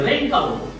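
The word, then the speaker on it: wreck: সে তারপরে রেক আবরণ এই যে ডবল উচ্চারণ করতে হবে না আর এ সি কে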